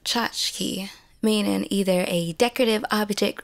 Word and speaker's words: tchotchke: I can't pronounce it it's pronounced chachki meaning either a decorative